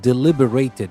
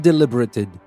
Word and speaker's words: deliberated: as a verb and when we use it as a verb the stress changes and so the pronunciation changes as well so nyami deliberated not deliberated deliberated nyami deliberated for a